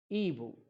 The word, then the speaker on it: Igbo: The spelling is Igbo, but the pronunciation is Ibu.